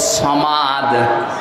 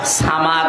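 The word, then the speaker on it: صمد: একটু খেয়াল করে পড়েন কুল হুয়াল্লাহু আহাদ, আল্লাহু সামাদ। সামাদ মানে অভাব ওয়ালা, যার অভাব আছে, আর সমাদ মানে যার অভাব নেই। শুধু একটা অক্ষর উচ্চারণে আকাশ পাতাল পাল্টে যাচ্ছে।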